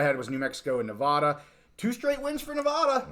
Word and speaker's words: Nevada: say something yeah yeah we say Nevada and we were corrected Nevada Nevada I got to say it correctly Nevada yeah I don't know